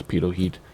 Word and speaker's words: pitot: I know it's pitot heat. Used to be an inside joke. And then people would be like, dude, you're saying it wrong.